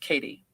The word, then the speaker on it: Kath: to me by my aunt kath pronounced katie my aunt katie cool who who lived